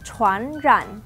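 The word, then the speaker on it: 传染: Nah, bahasa Mandarin dari menular, chuan ran.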